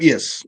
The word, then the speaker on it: Scheib: Now, is it Scheib? Is that how it's pronounced? Scheib, yes, correct.